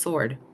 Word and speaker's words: sword: um but no apparently sword is pronounced without the W is it though I